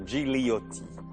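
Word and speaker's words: Gigliotti: dans la grille brunoigliotti on doit pas prononcer le deème g je pense on doit dire Gotti le 5 6 7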